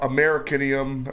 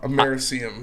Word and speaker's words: americium: Americanium, or however you pronounce it, number 1. I like it. That's my top 5. Americium.